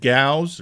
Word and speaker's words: Gauss: and it's they said Gauss rhymes with cows okay so they had